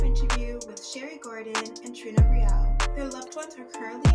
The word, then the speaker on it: Riel: Riel.